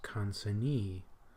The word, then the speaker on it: consignee: It is pronounced consignee. Because when you have the E on the end, then you want to put the stress on the last syllable, whereas if you have